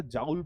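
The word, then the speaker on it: joule: ना जाने, मैंने एक व्यक्ति को देखा था जाउल पढ़ रहा था, ऐसे हो सकता है प्रोनाउंसिएशन इसका जाउल हो, भाई हमने तो बचपन से जूल पढ़ा है।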